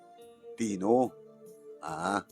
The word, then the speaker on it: Tino: ay Paritino Tino ano kasano pa nakapronounce na mo yun? Tino o Tino? Tino. Malumamay. Tino.